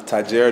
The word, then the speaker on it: Tahjere: how do you say your full name uh tajira if you guys didn't know already